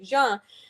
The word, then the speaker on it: Jean: Or they would ask because of my last name, which is pronounced like Jean.